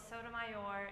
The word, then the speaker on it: Sotomayor: Putting the emphasis on the final syllable of Sotomayor is unnatural in English, and insisting on an unnatural pronunciation is something we shouldn't be giving into.